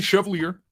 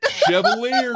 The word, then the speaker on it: Chevalier: But in English or American, it is generally pronounced Chevalier. Chevalier, like a sommelier.